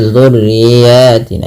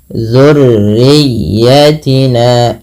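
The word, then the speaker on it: ذُرِّيَّتِنَا: Kemudian tekan pada lafal huruf ya, jangan hanya sekedar dzurriyyatina gitu ya, tapi jangan dzurriyyatina, tapi tekan ya-nya dzurriyyatina, dan dia ya itu huruf lin yang dimana ditekannya dengan lembut.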